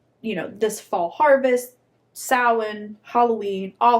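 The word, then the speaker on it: Samhain: So, we have the the custom of sin. Have you heard of that? Have you heard of Sam Hayne? No. Okay. English people pronounce it San Hane.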